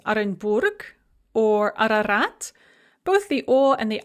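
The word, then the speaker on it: Арарат: to deal with and they are both pronounced as ah when they are the first letter in a word and they are not under stress so for example in the names arenburg or ararat both the or and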